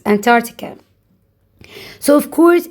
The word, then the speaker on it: Antarctica: Bowler region or Antarctica. C is silent. Antarctica.